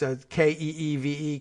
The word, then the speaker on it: Kyiv: And Athena follows up by saying the ambassador pronounced it as Kyiv. Phonetic spelling. Okay, that's Keeve, Kyiv, phonetic spelling.